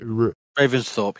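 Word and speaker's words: Ravensthorpe: Army you were the one you live in Raven storp which is still a place right is that how you say it Raven Thorp yeah Raven Thorp yeah so that you are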